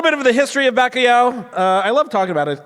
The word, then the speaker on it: Bacalhau: Bacalhau.